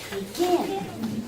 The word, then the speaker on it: begin: Let's all say the word begin. Which syllable is accented? It's the second.